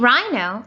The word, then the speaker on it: rhino: a silent h and in rhino the same thing happens the h is completely silent now you might think